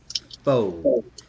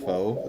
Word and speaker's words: pho: Faux. I thought that was a soup. that's pho. No, that's something completely different. No, it's not pronounced pho. It's not faux, Lucky. It's called pho.